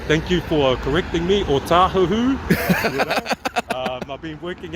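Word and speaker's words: Otahuhu: O tahuhu. You know? I've been working out Howard too long. Yeah, people, but yeah, pronounce it right.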